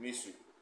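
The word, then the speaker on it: مصر: In the Arabic pronunciation, they call it Misri. We call it in English Egypt.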